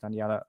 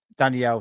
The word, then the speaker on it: Danielle: Really, yeah, I would agree with you, Daniela. It's Danielle. Sorry, said your name wrong.